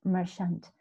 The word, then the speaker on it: merchant: The R is not pronounced, and merchant also is not really, the R doesn't really sound in the phonetics.